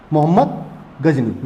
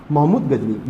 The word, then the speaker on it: महमूद गजनी: मोहम्मद गजनी, या महमूद गजनी, सॉरी मोहम्मद नहीं, महमूद गजनी इसका सही प्रोनाउंस होगा, महमूद गजनी।